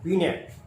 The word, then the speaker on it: Binet: Alfred बिनेट, BINET, लेकिन उच्चारण होगा बिनेट। तो अल्फ्रेड बिने ने जो इंटेलिजेंस का